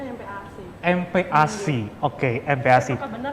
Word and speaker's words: MPASI: Sebenarnya bacanya ini empasi atau MPASI atau empasi sih Mbak? Kalau kami sih menyebutnya MPAC.